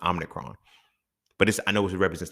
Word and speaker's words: Omicron: Now, we're on the Omicron.